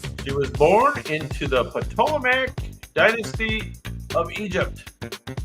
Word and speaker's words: Ptolemaic: She was born into the Ptolemaic dynasty of Egypt, or if I don't pronounce the T, Ptolemaic dynasty of Egypt.